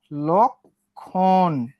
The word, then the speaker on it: লক্ষণ: দেখো লক্ষণ, লর সঙ্গে কি যুক্ত আছে? লর সঙ্গে একটা অযুক্ত আছে, অর পরে আবার কি আছে? একটা ক্ষীয় আছে, তাহলে লটা লয়ে ওকার হবে না? লক্ষণ।